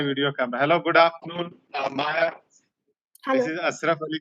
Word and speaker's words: Maya: And yes, Maya is pronounced Maya and not Maja, because J in German is like Yi.